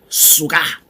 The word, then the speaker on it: suka: su ke a way easy to pronounce suka it's like sugar but with a key suka suka suka as it